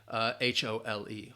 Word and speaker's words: hole: Again, homonyms, same pronunciation. Whole, W-H-O-L-E, and whole, H-O-L-E, whole. I ate the whole pie. All right, you ate all of it. Or I need to dig a hole. Pronunciation is the same.